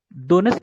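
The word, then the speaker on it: Donetsk: डोनेट्स्क ही पढ़ लो। डोनेट्स्क वो लिखा है, डोनेटस्क वो अलग चीज है, डोनेट्स्क ही पढ़ते हैं, वो टी साइलेंट समझ लो। टी साइलेंट है।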